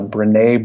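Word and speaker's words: Brené: want to dabble in that first but uh brine Brown is her name I'm just glad that I finally got that pronunciation down I I thought it was I didn't know if it was Bran or breeny or Breen yeah yeah it should maybe come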